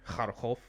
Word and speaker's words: Kharkov: And Kharkov. Am I pronouncing that correctly? Kharkov.